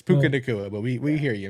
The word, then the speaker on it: Puka: where you were going we knew yeah it's pukaa but we we hear you man we knew